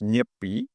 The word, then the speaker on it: Nyepi: It's pronounced nippy.